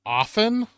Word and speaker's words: often: A lot of people leave out the T sound. Like they just say often. Like offal.